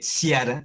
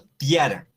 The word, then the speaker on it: tiara: También al inicio de palabra, entonces no se lee ciara, sino tiara, la tiara la tiara del Papa.